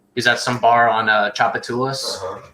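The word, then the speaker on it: Tchoupitoulas: Orleans from Boston, he's at some bar on Chapatulas called Vic's. There you go. You said it right, man. Are you proud of yourself? Yeah, I can say Chapatulas.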